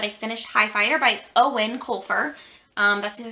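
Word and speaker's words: Eoin: finished high fighter by owen colfer um that's the other thing his name is owen not ayoin or whatever i was trying to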